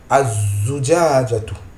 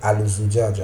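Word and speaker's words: الزجاجة: Ici, on ne prononce pas le lam du alif lam. On ne le prononce pas. Mais on appuie, on met une shadda sur la lettre qui suit. Ici, c'est la lettre zayn. Az-zujajatu. On ne peut pas dire al-zujaja, non.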